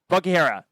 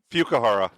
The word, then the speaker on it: Fukuhara: Karen Fukihara. Nope. Fukuhara. Fukuhara. Yeah.